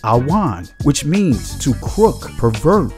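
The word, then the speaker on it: עָוֺן: The Hebrew word for iniquity is pronounced awan, which means to crook, pervert, do perverse, do wickedly, do wrong, to bend, twist, distort.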